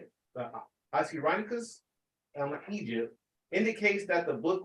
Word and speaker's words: Oxyrhynchus: chapter 15, verse 57 through 59, found at Oxyrhynchus, that's how you say it, Oxyrhynchus, Egypt, indicates that the book was composed in Greek.